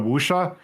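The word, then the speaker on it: wuxia: you're we're talking about wusha uh if you see uh wusha is spelled w was it w-x-i-a so if you see that that is musha just because it's one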